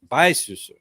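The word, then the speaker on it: 白素素: She is Bai Susu. She goes by Susu in this film. That's the pronunciation.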